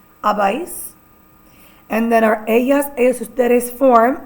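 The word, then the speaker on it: habéis: Our votros form is pronounced as abis spelled h a b e with an accent I s abise and then our aas form is pronounced as an spelled h a n.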